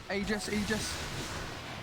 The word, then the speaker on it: Aegis: Aegis. You don't really care, do you, Lacoste? We had a patch where it was said that it's pronounced Aegis.